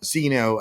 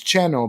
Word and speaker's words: Xeno: One of them, it's called Xeno as Xenomorph. The pronunciation for the game in Spanish where it was created is Cheno, because that's the pronunciation for South in Mexico.